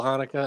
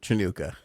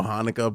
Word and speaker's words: Hanukkah: They put it the way we have it on screen with the ch, and he literally said Chinooka.